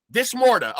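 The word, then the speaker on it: Dis Morta: want to say it wrong because is it this morta yes this morta okay okay um uh so explain to me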